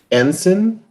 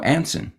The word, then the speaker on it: Anson: Do Americans pronounce Anson ensign? No, Anson. Anson.